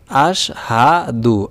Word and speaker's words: আশহাদু: আমরা করি কি যে আশহাদু, আশহাদু বলি, অর্থাৎ সিনে উচ্চারণ দুইবার করি। এটা আমাদের ভুল উচ্চারণ।